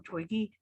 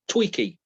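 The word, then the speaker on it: Twiki: And I don't I don't ever say his name right. I always call him Twiggy. It is Tweaky.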